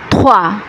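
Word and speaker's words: trois: দর্শক, আমরা আগেই বলেছি যে আর এর উচ্চারণ কখনো খ, কখনো হ, কখনো বা ঘ এর মতো হয়। এখানে আর এর উচ্চারণ টি এর সাথে মিশে থোয়া উচ্চারিত হচ্ছে। থ এর মতো কিন্তু আবার থও না, থোয়া থোয়া থোয়া থোয়া মানে তিন।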